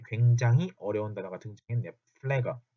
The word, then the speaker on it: Pfleger: 플래거. 자, PF가 붙어 있으면 발음이 굉장히 힘들어요. 이게 플래거나 플래거가 아니라 플래거입니다. 플래거. 요거 들리실지 모르겠어요. 플래거예요. F거든요.